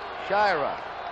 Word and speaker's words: Sciarra: Now, we've had some calls about the pronunciation of Sciarra. We asked him yesterday, and he said it's Sciarra. Sciarra, some call him. We're going along the way he wants it. Sciarra, his name.